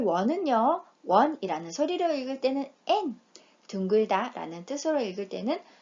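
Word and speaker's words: 円: 원이라는 소리로 읽을 때는 엔, 둥글다 라는 뜻으로 읽을 때는 마루이라고 읽지요.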